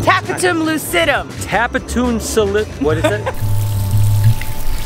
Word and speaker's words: tapetum lucidum: I always need my friend Savannah at Gatorland because I always forget how it's pronounced. Tapetum lucidum.